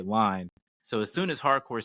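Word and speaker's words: Harcourt: I love that her last name is Hardcore without pronouncing the T at the end there.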